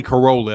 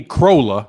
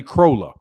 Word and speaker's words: Crolla: More than likely, Anthony Corolla is going to be, I say Corolla. I'm sure it's not pronounced Corolla. I know it's not pronounced Corolla, but Anthony Crolla, I think that's it.